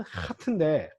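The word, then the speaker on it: חית: 이름은 하트인데 이게 독일어의 그 체하 발음이라고 해서 마하 할 때 마하라고 하는 그 발음과 같지 않습니다. 이것도 목구멍 깊숙이 나는 소리예요. 아마 다음 시간에 제가 좀 더 자세하게 설명을 해드릴 겁니다. 그냥 이거는 목구멍 이 발음이에요. 목구멍에서 나는 소리입니다.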